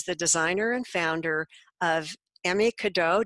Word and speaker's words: Emme Cadeau: Marcella is the designer and founder of Emme Cadeau. Did I pronounce that right? Close. It's Emme Cadeau.